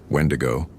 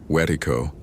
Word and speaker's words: Wendigo: Wendigo, wedo, wedo. Different pronunciations of the same concept.